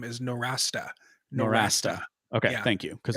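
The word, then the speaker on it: Nowrasteh: institute yeah right or or even the proper pronunciation of his last name is no rasta norasta okay thank you because well it's like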